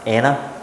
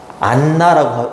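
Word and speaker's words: Anna: 우리나라 사람들은 안나 그지 근데 이렇게 뭔가 이렇게 자음이 두 개가 있으면 보통 하나로 발음해야 되는게 맞거든 서머가 아니라 서머 엠마가 아니라 에마 이렇게 발음해야 되는게 원래는 맞거든요. 안나 이거는 완전히 콩글리시 에나 발레라 발레라 아 그래요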